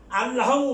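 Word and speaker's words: اللحم: আল্লাহমু মানে মাংস, লাহমু, লামের আগে লাম আছে, ওই লাম উচ্চারণ হবে না, সরাসরি এই লামের উচ্চারিত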